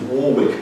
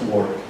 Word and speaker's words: Warwick: of these barons was Richard Neville, Earl of Warwick, not Warwick, you Americans. That's how we can tell you're Americans when you come over to England, because you say, I'd like to go to Warwick, please. It's Warwick.